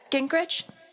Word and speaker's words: Gingrich: Steph uh Ginkrich, is that how you say it?